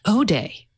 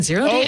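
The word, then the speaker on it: 0-day: But they said it's pronounced O-day. No, they're wrong. Okay. I wasn't going to take the New Yorker's word for it, but then I was like, have I really been saying 0 day?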